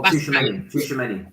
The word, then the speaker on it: Tchouaméni: I don't know how to pronounce his name. Locatelli, Italy. There's another guy that starts with a TC. Oh, Tchouaméni.